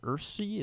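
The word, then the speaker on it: Ersery: I guess I'll take uh the the Minnesota kid, Arante Ursy. Is that how you say it? Yeah. Ursery, I believe.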